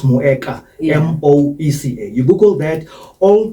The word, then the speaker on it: Moeca: Moeca, you can pronounce it as Moeca, M-O-E-C-A.